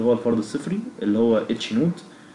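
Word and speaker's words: H₀: نون هايبوثيسيس اللي هو الفرض الصفري اللي هو اتش نوت, بيتكتب اتش او زي ما انتم شايفين كده, ولكن هو ينطق اتش نوت.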